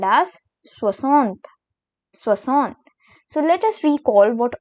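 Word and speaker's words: soixante: video that is 60 which is called as swasantha so let us recall what all we have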